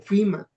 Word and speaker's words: FEMA: FEMA se escribe FEMA, lógicamente aquí le lo pronuncian como FIMA.